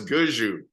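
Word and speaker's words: Gushue: So imagine if people were saying your name wrong for 20 years and then you finally convinced them to say it right. I mean, so it's Guju. Brad Guju is the not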